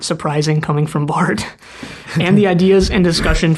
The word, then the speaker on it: Barthes: of the Author by Roland Barthes, I think is how you say his last name. It's French. It's spelled Barthes, and he's like this theorist, post-structuralist guy, I think.